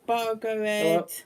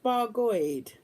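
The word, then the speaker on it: Bargoed: Oh, it's pronounced Bargoid.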